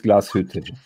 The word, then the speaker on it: Glashütte: Tim, nobody does it better than you, but it's Glashütte.